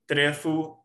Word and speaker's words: trefu: Jewish and African influences, basically Trefu is the word, is how you pronounce it. It's basically out of the Hebrew word tarefa. I'm not sure if there's any English pronunciation for that word, but it's tarefa.